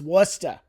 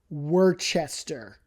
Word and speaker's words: Worcester: And it's not Worcester. It is not Worcchester. I have heard people say Worchester. No. Do you see an H in there? Do you see an I don't see an H because there is no H.